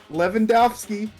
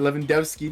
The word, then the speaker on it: Lewandowski: my boy Uncle Fudge, Lewandowski, or Lewandowski, depending on how you want to pronounce it, but I'm Polish, so it's Lewandowski to me.